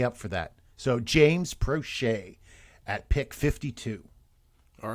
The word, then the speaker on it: Proche: I'm going to go with, and I always think I say this guy's name wrong, James Proche. Prochet. Right. James Prochet.